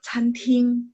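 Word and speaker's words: 餐厅: daerah Guangzhou, mereka bilang canting, restoran. CANTING. Pas baca memang T bacanya TH, tapi tulisan pininnya tidak ada H ya. CANTING. Chan nada 1, CAN nada 1, ting juga nada 1.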